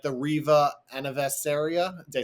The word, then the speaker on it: Anniversario: Do you think that same opinion for like a smaller vessel like the Riva Anniversaria? Did I say it right? Yeah. Yeah. So the Anniversario is an interesting one.